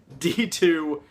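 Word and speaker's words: Dx2: how to pronounce it turns out the X completely silent there's nothing to the XD it's just d2 should Megami Tensei liberation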